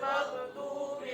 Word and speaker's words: maghdubi: Ghairil maghdubi alaihim. Nah, ini banyak yang salah juga nih. Di ghairil maghdu, ghain itu bukan huruf qalqalah. Jadi tidak dipantulkan.